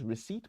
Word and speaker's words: receipt: have some word here the first word is receipt we talked about it receipt if you say